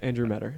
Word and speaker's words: Andrew Meador: All right, we're sitting here with Andrew Meador. That's how you pronounce it, correct? Yep, Andrew Meador.